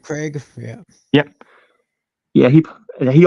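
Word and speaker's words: Krieg: Bengals 367 David oh Dave grake think that's how you say his name of the Seahawks and Cardinals y Craig uh yeah k r i e g cig Dave Craig yeah yep yeah he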